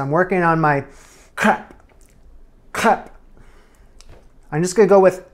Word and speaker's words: crêpe: I'm trying not to say crepe. It's American pronunciation. I wanna stay far away from that today. So I'm working on my crêpe. Crêpe.